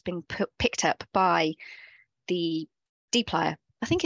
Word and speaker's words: dplyr: It's kind of written out here how to say it, dplyr.